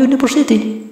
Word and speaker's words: university: Karena cara bacanya university. Bukan university, bukan university, bukan university. Jadi kalau kita tulis secara kasar di kertas, cara bacanya itu diawali dengan Y.